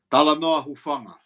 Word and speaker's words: Talanoa Hufanga: Talanoa Huifunga? Okay, so Talanoa Hufanga.